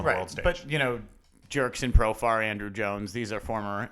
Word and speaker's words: Profar: Jerks and Profar blows the Jerks and Shofar. Right. And not literally. that's a rhyme. He's not literally. Jewish. No, he's not Jewish, but his name rhymes with Shofar.